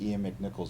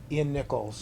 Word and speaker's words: Ian Nichols: No, I heard Ian McNichols also helped you out. Ian Nichols. Ian Nichols. Yes, I always say his name wrong.